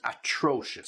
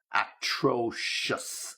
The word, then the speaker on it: atrocious: you are terrible and atrocious. So just be careful with the pronunciation of that. Terrible, easy, but atrocious. Atrocious. Okay, just to make sure you get the right stress.